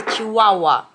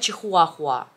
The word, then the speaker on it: чихуахуа: Вообще пишется чихуахуа, но говорится чиуауа. Но русские говорят чихуахуа. Хотя правильно даже и по-русски говорить чиуауа.